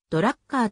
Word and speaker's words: Drucker: のジャーナリストテレビパーソナリティ英語ではドラッカーと発音されるフランスの複数の